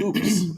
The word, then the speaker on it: UPS: here and ups is oops and they are oops that's what mexicans call ups is oops and boys that one